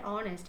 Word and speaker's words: honest: So here our honor and honest in these letters or sorry in these words the letter H is silent.